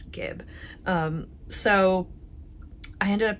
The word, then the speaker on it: Gib: the um nurtured pullover I pronounced it jib last time but I went back and watched some of Andrea Mowry's old podcasts and I now know that it is Gib um so I ended